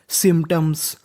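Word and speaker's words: symptoms: SYM सिम, इसे पढ़ेंगे सिम। और यहाँ पे P हमारा साइलेंट रहेगा। तो आगे मीनिंग है TOM, इसे पढ़ेंगे टर्म्स। सिम्टम्स। सिम्टम्स।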